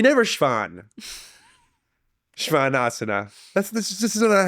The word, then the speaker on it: shvanasana: mhm so that s think of it as like sh soan Shan this isn't something we say in English we never Shan shanas that's this this is